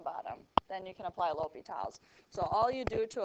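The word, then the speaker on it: L'Hôpital: okay so it's pronounced l'hopitals but it's spelled l and then apostrophe hospitals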